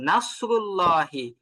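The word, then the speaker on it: نصر الله: এবং নাসরুল্লাহি এখানে যে সরটা আছে এ সরটা যেন চিকন না হয়ে যায় চিকন হলে এটা সিনের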